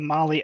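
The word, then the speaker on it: Mahle: for the podcast listeners Molly is spelled m ahle e and yes yeah just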